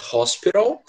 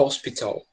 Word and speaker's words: hospital: E sempre lembrando, a pronúncia tanto pode ser hospital ou pode ser hospital, tá? As duas pronúncias são corretas, tá?